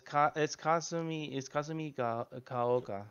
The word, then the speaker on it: Kasumigaoka: Kasumigaoka? Kasumigaoka? Like, how do you say that? It's Kasumi Kaoka.